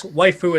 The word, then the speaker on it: waifu: and something else then it's pronounced waifu oh I thought they